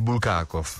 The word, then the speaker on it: Bulgakov: Esatto, hai detto anche l'accento giusto, io prima no, quindi Bulgakov.